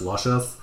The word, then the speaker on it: Lucius: It's pronounced Luscious.